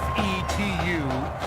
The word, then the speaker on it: Fetu: tackled so coach father spelled fetu the longest time i was pronouncing it like feta cheese so let's just say